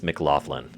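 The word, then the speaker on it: McLoughlin: Sheamus Mclofflin. And yes, because Scottish or Scottish, you pronounce gh as an F.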